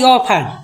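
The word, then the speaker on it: often: है ओ एफ टी इ एन का पड़े ऑफन इ एन का हो जाए साइलेंट हो जाता ओ एफ टी इ एन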